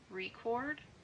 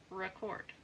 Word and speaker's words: record: For example, the vowel sound in record is pronounced differently depending on whether it is used as a noun, record, or a verb, record.